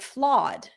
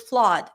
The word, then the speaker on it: flawed: It sounds like flood, but listen to the difference. It's not the same. Flawed. Flood. Flawed. Flood.